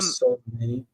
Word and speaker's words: Soleimani: Qasem Soleimani. That was like Repeat his name again. Khomeini was What's what? his name? How do you pronounce his name? Qasim Solem Soleimani.